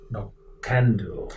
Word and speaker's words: Knockando: age and it's pronounced no candle it's yeah League word Galaga usually pronounced from the second syllable but what I find